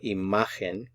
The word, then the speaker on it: imagen: La imagen, the stress is on this syllable, the ma. So imagen, imagen.